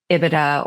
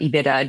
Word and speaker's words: EBITDA: The second number would be EBITDA or EBITDA, depending on how you pronounce it, which is earnings before interest, tax,